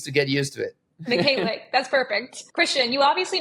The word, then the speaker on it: Mykhaylyuk: Today we have our good friend, Mykhaylyuk. did I pronounce that correctly?